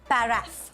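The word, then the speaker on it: paraph: The accurate pronunciation is paraff.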